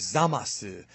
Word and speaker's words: Zamasu: The way they pronounce his name in Japanese is Zamasu. So, much like, for example, Torankusu, which is like the Japanese phonetic version of Trunks, I wouldn't be surprised